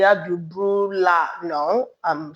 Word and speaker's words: brouillard: Most words in French with double L, pardon me, make the sound yi instead of So I'm not saying il y a du brouillard.